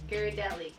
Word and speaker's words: Ghirardelli: You pronounce it. Ghirardelli.